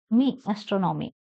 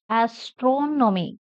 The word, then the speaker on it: astronomy: it pronunciation this one when you say the following words you stress the third syllable from the end asron astronomy astrology biology geology philosophy